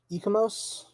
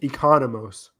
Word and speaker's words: Economos: Uh, Ecomos, right? Economos. Economous. Yeah, I know. I was missing a syllable.